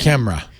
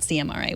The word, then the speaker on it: CMRA: And then Camera. It's camera, pronounced camera, not CMRA, which sounds sort of like Smra. something you'd need a shot for.